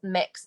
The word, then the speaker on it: Mx: quickly on the titles the one for non-binary is mx which is pronounced mix so that is what